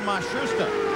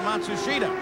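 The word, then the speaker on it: Matsushita: They've changed the pronunciation again. They've given it to us four or five different ways. Now, it seems that they have settled on Mashusta. They started the year with Matsushida, but he is the Japanese driver.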